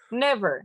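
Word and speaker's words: Niamh: know that when you see n-i-m-h uh yeah it's neve it's knee yes yeah it's super difficult so i don't know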